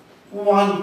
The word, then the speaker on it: one: Sometimes we say it is a one taka note. It is a one taka note. One. So it also starts with a vowel sound. It also starts with a vowel sound, but it pronounces like wa.